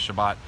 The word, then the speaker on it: Shabbat: the same as shabas some pronounce it shabas some pronounce it Shabbat look I'm not a